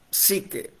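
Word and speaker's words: ψυχή: Se escribe suche, se pronuncia sique, como si la u fuera una y.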